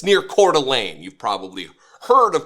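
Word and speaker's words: Coeur d'Alene: know Idaho or northern Idaho it's it's near cordelane you've probably heard of cordelan saw the word and didn't know how to pronounce it that's how to pronounce it cordelan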